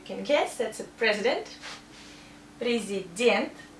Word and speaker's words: президент: Президент. Stress here. So we pronounce ye like ye. And this ye sounds like I.